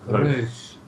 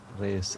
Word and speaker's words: Reus: Reus. Reus. That's kind of like how I would say it if I pronounced it in a French accent, so I can deal with that.